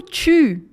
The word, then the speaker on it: tu: E o tu não é o biquinho, porque a letra U sozinha não tem som de U, tem som de U.